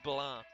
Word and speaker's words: blanc: It You just don't pronounce the C. The C is silent. If you wonder why the C is here, it's because we have gender uh for words in French. Blah is the male version.